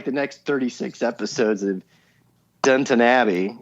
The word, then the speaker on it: Downton Abbey: next 36 episodes of Downton Abbey, as I was told to pronounce it, because I keep saying Downtown Abbey, and that sounds like a hooker down on the street.